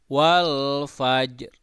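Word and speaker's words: وَالْفَجْرِ: Nah, ini coba Anda lihat ini ya, ini ro-nya terdengar sedikit. Wal fajr nah itu. Ada ro sedikit ya bunyinya tapi agak pelan gitu.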